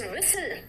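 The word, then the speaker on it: whistle: ठीक साइलेंट है कहां-कहां इट्स विसल विसल है विसलन नहीं है बेटा देखो विसल है नेक्स्ट देखो तो फैसिन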